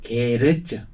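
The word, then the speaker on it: 系列: 이런 거를 이제 이거를 일본식 발음으로 게레츠.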